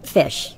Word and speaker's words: Phish: hey there I'm fish it's spelled p h i s h I know it's not your normal fish with an F but pH is in so that's my name I'm